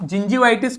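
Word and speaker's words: gingivitis: तो कुल मिला के आप जिंजीवाइटिस को पढ़ना कैसे है? जी का जो प्रोनाउंसिएशन है यहां पे वो जे वाला है। तो जिन जी वाइटिस। ठीक है, जिंजी वाइटिस। ठीक, इस तरीके से पढ़ेंगे इसे।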